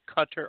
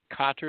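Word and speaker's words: Qatar: I hear they said cutter or Cotter is the correct pronunciation so I mean it depends it's a dialect thing um you know it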